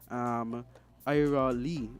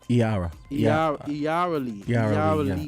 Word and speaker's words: Iara Lee: there in Nevis again, Ira Lee. And so it's Iara Lee. I cleared up the pronunciation with her last night.